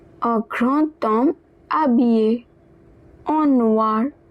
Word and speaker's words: grand homme: So, now this D will be pronounced as T. So, the pronunciation will look like grand homme instead of grand homme.